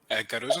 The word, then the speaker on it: Caruso: de Enrique mencionábamos que Caroso es uno de Caroso, ¿verdad? Si no lo estoy pronunciando mal. Caruso, Santiago Caruso.